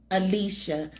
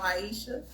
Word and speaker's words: Aisha: Most of the time I have to repeat 5 times to people. My name is Aisha.